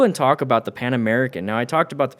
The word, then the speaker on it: Pan America: Is it the Pan American?